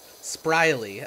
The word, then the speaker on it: Spriley: honestly such a mood spriley okay okay because your name is Riley I see I see